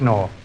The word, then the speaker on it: gnaw: It is Noah. No, how do you spell Noah? N-O-R. No. K-N-O-R. K. The K is silent, you see?